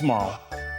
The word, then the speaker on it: Marle: So, yeah, her name is Marl. When I was a kid, I pronounced it Marley. Um, Marl.